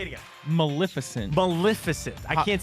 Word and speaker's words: Maleficent: what how do you say it again Maleficent Maleficent I can't say it I can't say it